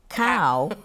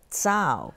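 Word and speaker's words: cǎo: Letters, and as you and I were discussing a while ago, the C, like C-A-O, people would pronounce it as cow, but it's actually a tsao. Tsao, and that would we, be grass.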